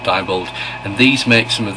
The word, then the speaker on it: Diebold: Okay, it might be debold, but I always pronounce it diebold.